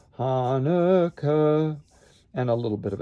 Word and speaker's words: Hanukkah: Emphasize the first syllable of Hanukkah, Hanukkah, like in book, Hanukkah, and a little bit of a decrescendo away from it, as we did on miracle.